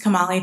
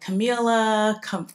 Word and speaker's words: Kamali: And you would think Kamali is like pretty easy to pronounce. And some people get it like very immediately. And some people, it's like Camila, Camille, Kamala, because when the vice president was elected, everyone got confused.